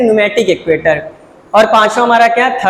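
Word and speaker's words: pneumatic: चौथे का हमारा न्यूमेटिक, इसमें पी साइलेंट, ध्यान दीजिएगा, पी साइलेंट, इसे हम क्या कहते हैं, न्यूमेटिक एक्वेटर।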